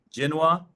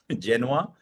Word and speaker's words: Genoa: Starting with Genoa in Italy. I think that's how you pronounce it without the V. Genoa, Italy.